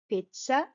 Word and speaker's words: Pizza: Pizza you can see the stress is on the first syllable pit and then instead of